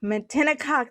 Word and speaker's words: Matinecock: uh, Born and raised New Yorker from the ancestral lands of the Munsee, Lenape, Canarsie, and I'm going to mispronounce this. Excuse me, any Matinacock. Matinecock.